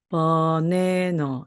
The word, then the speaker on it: banana: 그리고 끝에 오는 바로 N 발음도 니은 발음 소리가 나는데 마찬가지로 이때의 A도 강세를 받지 못하기 때문에 힘이 없어요. 그래서 다시 소리가 나서 버네너 이렇게 됩니다.